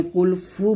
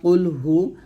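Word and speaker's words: قل هو: এখানে সদ উচ্চারণ সিন বানা ফেলবেন না কফের উচ্চারণ কাফ বানায় ফেলবেন না এখানে কুলফু বলবেন না কুলহু কহু আল্লাহ বলবেন না কুলহু আল্লাহু আহাদ এই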